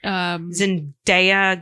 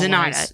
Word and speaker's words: Zenaida: Zendaya Gonzalez. Right? Zenita. Let me find it because I don't know how to pronounce it. It's in the second paragraph. Zenaida Gonzalez. Zenaida. That's what it is.